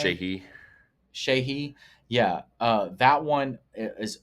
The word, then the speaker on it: Sheehy: Sheehy.